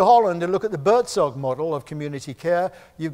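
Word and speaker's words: Buurtzorg: Bertzog, make a note of it. Today's learning, write this down, I'll spell it for you.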